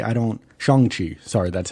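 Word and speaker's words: Shang-Chi: to do unless it's like you know like shane she i don't shang chi sorry that's how you pronounce it um i don't you know he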